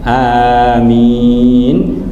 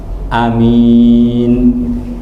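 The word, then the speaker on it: آمين: Jadi cara baca amin bisa dibaca dua, bisa sama-sama panjang amin atau amin. Jadi a-nya, hamzahnya pendek, yang panjang hanya min, amin satu, atau amin.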